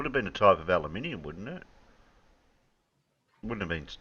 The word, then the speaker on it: aluminium: an at the end so they renamed it aluminium yeah because it rhymes with cabum and sodium and exactly literally they